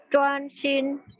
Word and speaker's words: 专心: Terus yang 9, 10 karena H, lidahnya diangkat. 追 sama 专心 ya, lidahnya diangkat, ditempelin di langit-langit ya.